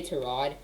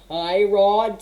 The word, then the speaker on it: Tyrod: i'm so i'm sorry i'm getting used to say to rod because i heard somewhere